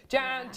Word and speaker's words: Jan: Jan, it rhymes with ham.